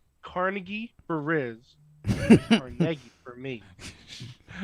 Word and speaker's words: Carnegie: These times just label just label one Carnegie for RZ Cargi for me. Damn it. Carnegie. Yeah. Carnegie. They say Carnegie. We say CargI.